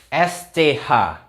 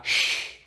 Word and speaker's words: sch: roofmart Iya sekarang ya sch sch bacanya Gimana Hayo kan sch cecak Masa Gitu Mungkin pacarnya